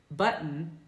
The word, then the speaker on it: button: So a word like button.